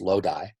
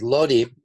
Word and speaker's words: Lodi: Lodi, which I have to think to not pronounce Lodi, but Lodi was a place, and you can see in this gray bar, that instituted.